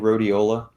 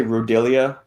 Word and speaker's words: rhodiola: Have y'all ever had people have difficulty saying rhodiola? Like I've heard people say rhodelia.